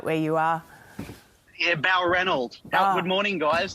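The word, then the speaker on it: Balranald: Jason, did I get the pronunciation right where you are? Yeah, Balrundle.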